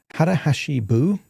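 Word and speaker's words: 腹八分: And there is a Japanese concept called harahashi buu or sometimes it's uh pronounced harahashi buni.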